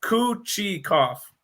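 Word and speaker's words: Kochetkov: saw a tweet by the carolina giving the pronunciation for it it's kuchi koff this is like his cousin kakuto thank goodness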